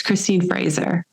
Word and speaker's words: Christine Fraser: Can you say the correct pronunciation? I knew I was going to. Don't worry about it. It's Christine Fraser.